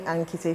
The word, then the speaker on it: Ankite: You can call me Ankite for short. Kite is spelled like kite, K-I-T-E.